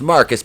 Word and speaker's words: Marquise: timber let's talk about marquise pronounced marcus because he's [ __